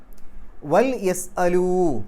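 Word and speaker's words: وَلْيَسْأَلُوا: മാ അൻഫത്തും നിങ്ങൾ ചെലവഴിച്ചത് വൽ യസ്അലു അത് ശരിക്ക് വലി യസ്അലു എന്നാണ് ലാമുൽ അം എന്നാണ് അതിനു പറയുക അതിനു മുമ്പിൽ ഒരു വാവ് വരുമ്പോൾ വലി എന്നുള്ളതിനു പകരം വൽ എന്നുള്ള രൂപത്തിൽ ആവും ശരി അപ്പൊ അവിടെ വൽ യസ്അലു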